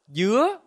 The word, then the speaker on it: dứa: For example, dưa means melon, but dưa means pineapple, and dưa means coconut.